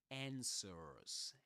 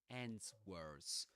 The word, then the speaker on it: answers: Because it's so in American English you would hear answers. So you don't pronounce the w, right? You don't say ends words.